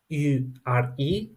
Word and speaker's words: heure: In French, it is heure, and it means hour. So you see, I didn't spell an ha, I did not spell it her. It doesn't even sound right, right? I spelled it er.